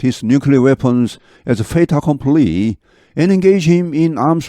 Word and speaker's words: fait accompli: 발음은 fait accompli, fait 이렇게 T하고 A가 붙어서 납니다. 이제 불어에서는 연음이라고 하는데 뒤하고 이렇게 붙어서 모음하고 fait accompli, 기정사실로 받아들이기를 원한다.